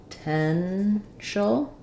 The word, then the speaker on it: potential: on the middle syllable so we have awah potential and an sh sound um so sounds like